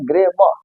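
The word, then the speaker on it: grammar: कर द ठीक है अगर इसको साइलेंट कर देंगे तो हमारा सही उच्चारण क्या हो जाएगा ग्रेवा हो जाएगा लेकिन हम लोग ग्रामर बोलते हैं वो रंग है उसका उच्चारण इसका सही उच्चारण क्या होगा ग्रेमा होगा क्या ग्रेमा अब देखिए यहां पर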